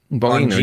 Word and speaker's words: Bongino: Bongino. Is that how you say it? Bongino, yeah. Yeah. Bongino, there we go.